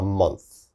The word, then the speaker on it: month: month a little bit difficult to pronounce a month a month your tongue has to come out a little bit a